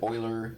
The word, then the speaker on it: Euler: e to the x just a reminder that euler is spelled e u e e u l e